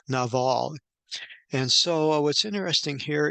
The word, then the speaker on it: Nabal: the man was nabal you probably have heard it as Nable but the Hebrew pronunciation is no Naval and so what's interesting